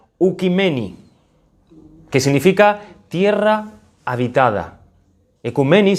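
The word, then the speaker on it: οἰκουμένη: desde las grandes cimas del griego se pronuncia un kameni que significa tierra habitada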